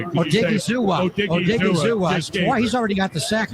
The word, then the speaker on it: Odighizuwa: Odighizuwa.